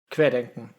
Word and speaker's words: Querdenken: How do you pronounce that? Querdenken.